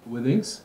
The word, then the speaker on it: Withings: From the company, how you pronounce it? Withings. Withings?